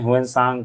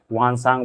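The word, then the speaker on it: Xuanzang: अगर मतलब बोल सकते हैं हुएन सांग, कोई वान सांग बोलता है, किसी मतलब बहुत तरह का प्रोनाउंसिएशन है, क्योंकि ये चाइनीज नेम है।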